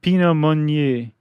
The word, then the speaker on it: Pinot Meunier: There are 3 grapes, and they are the Pinot Noir grape, the Chardonnay grape, and how do you pronounce that last one? The Pinot Meunier.